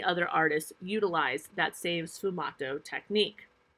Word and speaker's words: sfumato: This is a new artistic technique called sfumato. And I will spell that for you as well. It is Sfumato, sfumato.